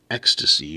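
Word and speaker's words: Ekstasy: developer creating this game called ecstasy but it's spelled weird it's like e-k-s-t-a-s-y it is a it's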